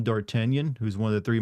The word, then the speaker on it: D'Artagnan: and I landed on D'Artagnan, but I didn't know how to spell it or say it correctly, so I just wrote it as Dartigan and said it that way in my head.